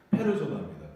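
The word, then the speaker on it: persona: 에센티아나 그 다음에 이거는 이제 퍼슨이라고 읽으시면 안 돼요. 퍼슨이라고 읽으시면 안 되고 페르조나입니다.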